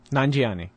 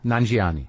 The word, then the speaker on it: Nanjiani: Nanjiani. Kumail Nanjiani.